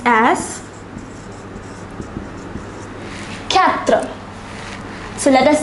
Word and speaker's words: quatre: The number 4 is pronounced as quatre.